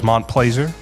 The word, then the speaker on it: Montplaisir: Joining me today on the podcast is Montplaisir. Do I have the pronunciation right? You got it right.